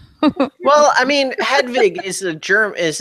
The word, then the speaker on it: Hedwig: Hedwig. Like Well, I mean, Hedwig is like an actual German name, I think. Right. And it's pronounced with sort of the V, German sound. Like there's Hedwig in the Angry Inch, that movie.